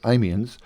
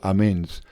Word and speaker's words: Amiens: of which was spent at amiens or amends depending on your pronunciation the royal train was